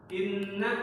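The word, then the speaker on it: إِنَّ: Inna ada nun bertasydid. Secara bacaan hukum tajwidnya itu namanya apa? Gunnah atau gunnah musyad. Bacaannya gimana? Ya, inna ditahan ya.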